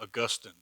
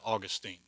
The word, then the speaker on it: Augustine: popular, was a guy named Augustine, or you might pronounce it Augustine.